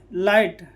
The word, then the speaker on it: light: LIGHT लाइट, GH क्या है?